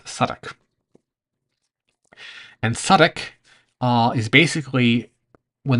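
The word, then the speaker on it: Southwark: Now, Suffolk is spelled Southwick, but it's pronounced Suffolk.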